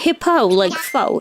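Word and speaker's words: Hippeux: It's like hippo like fo as in like faux fur. It's spelled like that.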